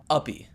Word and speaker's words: Uppie: Instead, their pets were other players role-playing as dogs, and these players were called Uppies. TLDR, an Uppie is pretty much if a baby were to say the word puppy. Uppie.